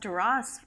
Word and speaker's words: Duras: I didn't know it was pronounced Duras until you started speaking.